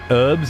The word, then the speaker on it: herbs: Herbs instead of herbs. Yep. Not not not annunciating that the H.